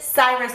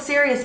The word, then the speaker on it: Sirius: azkaban for the very first time I said Cyrus black for the longest time instead of Syrians blog I think I pronounce it Cyrus black until like I saw